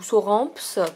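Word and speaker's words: Sauramps: acheté à la librairie sur rampe ou sur rampe pour ceux qui prononcent le S à la fin à Montpellier voilà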